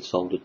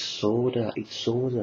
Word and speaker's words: solder: Oh, also, before everybody starts going, it's solder, not solder. I'm from England. It's said solder over here. It's pronounced solder over here. It's pronounced solder, or whatever you guys say over in America.